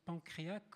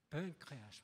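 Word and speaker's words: Pencréac'h: Évidemment, aujourd'hui, Philippe Dagen va parler de faire réagir plutôt Pancréas, parce que je ne sais pas si on prononce Pancréac ou Pancréas, c'est Pancréas, voilà.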